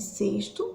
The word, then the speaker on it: sexto: consigo pronunciar o relé porém quando eu chego aí no sexto que escrito com x na fala ele não aparece com o som do x mas sim com som do s tá sexto sexta eu